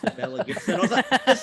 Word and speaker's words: Belle: it would be annoying people at home it's belle gibson her name's pronounced bell unless that's a new non-diplomat she's